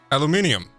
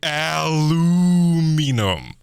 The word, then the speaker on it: aluminium: you said it normal aluminium yeah aluminium there's an a in there silly yankees oh do they call it luminum is that what they do aluminium they say aluminum aluminum oh my god aluminium